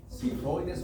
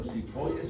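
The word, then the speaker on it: xifoides: Y la parte más caudal se conoce como apófisis sifoides o shifoides, o como quieran pronunciar la X ahí, ¿verdad?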